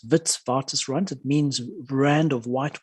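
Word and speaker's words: Witwatersrand: and it's pronounced V it's a Dutch name so it's Vitz vtis rant it means brand of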